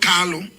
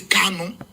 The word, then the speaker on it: Kanu: our leader is not Carlo our leader is Kano it's not Carlo it's Kano for some of you